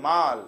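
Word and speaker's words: mal: और जब यही बैने के साथ में आपका एम ए एल माल हो जाता है, आपका क्या हो जाता है? एम ए एल माल है, या sometimes it is pronounce as मैल also.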